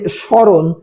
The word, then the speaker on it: স্মরণ: তারপরে দেখেন এই যে স্মরণ, স্মরণ শব্দের প্রথমে কি রয়েছে, মফলা রয়েছে। শব্দের প্রথমে মফলা থাকলে আমরা কি বলছি, উচ্চারণ হয় না। তাই এখানে স্মরণ শব্দের উচ্চারণ কি হয়ে যাবে, স্মরণের উচ্চারণ হয়ে যাবে তালেবস্য রয়কার দন্তান্ন স্মরণ।